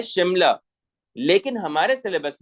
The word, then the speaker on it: शिमला: हिंदुस्तान का ये जो शहर है इसका नाम है शिमला. हिंदुस्तान का जो शहर है इसका नाम क्या है? शिमला. उसका प्रोनाउंसिएशन क्या है? शिमला.